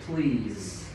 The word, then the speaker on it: please: Thầy sẽ có từ please. Được chưa? Please. thì SE này nó sẽ kết thúc bằng âm z.